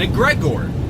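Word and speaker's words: egregore: That's how I pronounce it. You can call it egregor or whatever. I always called it egregor since I studied the occult 8-9 years ago. I've always called it that.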